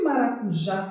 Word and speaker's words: maracujá: a nossa que maracujá tem acento como é que a gente separa maracujá maracujá Qual é a sílaba mais forte de maracujá é um já se usar eu sei